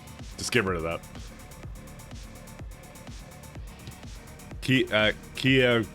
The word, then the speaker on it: Kia: get rid of that Kia pronounced like the car brand like I I you